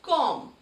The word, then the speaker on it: comb: It is pronounced as comb.